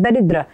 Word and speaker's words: दरिद्र: यह है दरिद्र। इसको दरिद दरिद्र नहीं पढ़ेंगे। दरिद्र नहीं इसको दरिद्र पढ़ा जाता है।